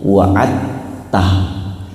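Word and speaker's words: وعدته: Ada waad tulisannya waad. Tah tulisannya, tapi bacanya waattah innaka la tukhliful miad.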